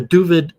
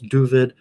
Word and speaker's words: Dooovid: with four o's uh duvid like with a u instead of an a like david it's just david the